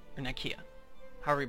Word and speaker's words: Nicaea: These 3 counties in Nicaea, or Nicaea, however you pronounce it. It's actually pronounced Nicaea in some contexts.